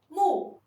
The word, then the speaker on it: 木: as timber Wooden house The pronunciation of 'wood' is mù mù Its initial is 'm' And its final is 'u' Its tone is the fourth tone Let's read it together